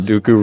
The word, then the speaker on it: Dooku: Count Dooku rhymes with poo-poo from the worst Star Wars movie.